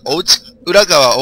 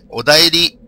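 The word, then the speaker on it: お便り: えっとですねあの自分がお家裏川お家裏川つってたんですけどあれお便りと読むらしくてはいおりって打つと変換で出てきますお便りお便りだよみんなすいません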